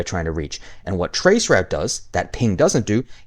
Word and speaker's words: traceroute: is trace RT, but in Linux, you're typing in the entire word. It's trace route.